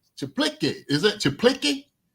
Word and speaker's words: Czaplicki: Chaplicki, is it Chaplicki? It's spelled CZAPLICKI. So I think it's Chaplicki.